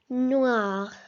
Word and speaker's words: noir: Noir. Repeat after me. Noir. Très bien. The wa together make the sound wa.